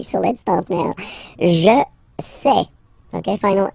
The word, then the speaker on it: sais: Je sais. Okay, final S not pronounced, and then you get this A-I-E.